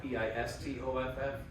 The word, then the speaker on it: Pistoff: it to piss off spelled like Kristoff p i s t o f f the pistoff Kristoff and if you look